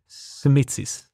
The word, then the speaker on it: Simitzis: How do you pronounce it? Simitsis.